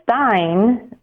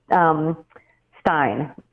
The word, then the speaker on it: Rosenstein: Yeah, I think his is actually Stein. I remember looking that up. Yeah, his is a Stein.